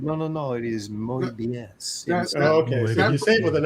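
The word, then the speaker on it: Moebius: that he met Mobius and he called him Mobius and he said no no no it is mobus with an accent it makes sense that that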